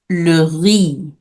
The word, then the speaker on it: le riz: So for rice in French, it is pronounced le riz.